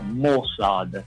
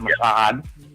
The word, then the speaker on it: Mossad: interpretation of the Mossad, that's how you say it, Mossad, not Mossad, Mossad. Get it straight.